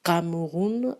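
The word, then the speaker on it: Kamerun: plus porteur et c'était cameroun avec cas donc à à m e r us n est donc qu homme comme s'est prononcé en allemand et quand j'ai reçu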